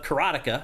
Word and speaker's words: karateka: listed this one, but the announcer said Karateka. No, and I'm like, is that how you're supposed to pronounce it? Because I don't think that's right. There's no, because it's just karateka.